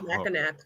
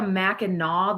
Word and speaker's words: Mackinac: Mackinac. Yeah. I never thought about that. I don't know. Don't you also have like a Mackinac though with a W?